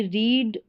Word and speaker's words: read: तो वहाँ पर आई रीड बुक नहीं लिखते, आई रीड अ बुक, इस तरीके आई रेड अ बुक, तो वहाँ रेड बन जाता, पास्ट के हिसाब से हम उसको प्रोनाउंस करते रीड वर्ब को।